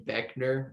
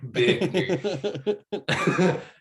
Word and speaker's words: Boeckner: It's Britt Daniel of Spoon, the lead singer and guitarist, and Dan Beckner. I think that's how you say his name, spelled really weird. Boeckner. We'll go with sounds right. Beckner.